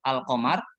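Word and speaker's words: القمر: aja Qomariah Al Qomariah berarti ketika membaca Al qomari Al Qamar Alif lamnya dibaca terdengar jadi ini huruf-huruf yang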